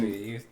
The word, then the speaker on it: Shisui: Um, Shisui, you said it right.